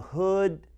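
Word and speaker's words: Hud: Center before me, and we call him Brother Hood. It's one of the coolest names, Brotherhood. You know, could be also spelled H-O-O-D, but his name is spelled H-U-D.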